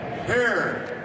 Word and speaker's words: Hare: I want to mention Jack Hare. It rhymes with tear, as Jack once said.